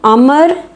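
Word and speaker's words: عمرو: سعد، عمر بن حجاج، ان دونوں ناموں کے پہلے حصے کا تلفظ الگ الگ ہے۔ عمر بن سعد میں عین کے پیش کے ساتھ ہم پڑھتے ہیں اور عمر جس کے آگے واو ہے اس کو ہم عین کے زبر کے ساتھ پڑھتے ہیں۔ عمر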